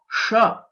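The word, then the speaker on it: ष: The next letter, which is sha, this is a murdhanya letter, and we'll have to roll back our tongue.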